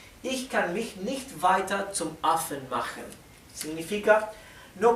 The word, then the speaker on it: weiter: Recuerden que la ER al final la R es casi imperceptible y se pronuncia casi como si fuera una A, ¿sí? En vez de decir weiter, diríamos weiter.